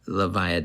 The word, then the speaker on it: Levia: the shadow brute levia last episode i called her levia i think the developer said you can pronounce it how you want but leviah does sound cooler it's like leviathan like she's got some beast lurking deep inside her or in her adult